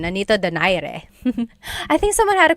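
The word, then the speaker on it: Nonito Donaire: So, our first poll here is going to be Manny Pacquiao versus Nonito Daire or is in in the Tagalog uh pronunciation. Nonito Dire.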